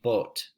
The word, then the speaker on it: boot: And then we've got the word boot. Both of these are the word boot, but you'd say boat.